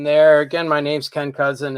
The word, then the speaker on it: Kousen: Again, my name's Ken Kousen. It's Kousen like the relative. It just doesn't look like it.